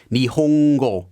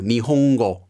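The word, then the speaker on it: 日本語: letter such as in the japanese word for the language japanese nihongo you have that slight ng sound there too nihongo but in japanese it's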